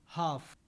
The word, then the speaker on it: half: pronounced calm should could half L is silent whereas in cold or gold L is pronounced so the logic behind